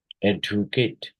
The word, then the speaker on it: educate: Then where is the stress in educate? We can say that first syllable, educate.